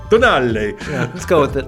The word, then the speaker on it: Tonale: And perhaps in the more southern parts of the US, it could be pronounced differently, but I think it is Tonale. Tonale.